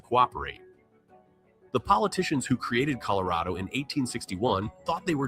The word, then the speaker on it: Colorado: So, it's pronounced Colorado, not Colorado. Coloradoatans say RAW while another half of the United States says Ray.